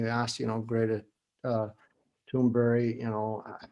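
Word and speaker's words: Thunberg: interesting greater toonberry uh toonberg i guess how they say it in english but swedish toonberry she was in front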